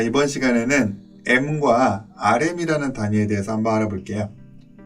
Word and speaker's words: em: 자, 이번 시간에는 M과 RM이라는 단위에 대해서 한번 알아볼게요. 자, 이 단위의 발음을 EM이라고 하는 경우가 많이 있는데 사실 정확한 발음은 M이라고 하는 것이 맞죠.